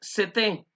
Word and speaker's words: c'était: Sin embargo, cuando queremos hablar de estaba, estaba, diríamos CT. De esta manera, vean cómo se escribe.